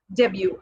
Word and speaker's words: debut: And then the next word, debut. Again, we have a silent letter here, that is T. The letter T is silent. It is not debut.